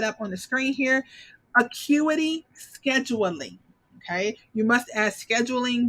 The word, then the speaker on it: Acuity: a dog on service you guys acuity scheduling acuity is how you pronounce it acuity okay i'm gonna pop it up on the screen here acuity okay you must add scheduling because otherwise i